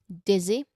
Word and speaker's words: dizzy: There's a short e sound there for the first syllable. And there's a soft z sound for the second syllable. Dizzy. Dizzy. I've mentioned about buzzing sound, right? So, this Z sound here, it should sound like the Z in zoo, not a harsh buzzing sound.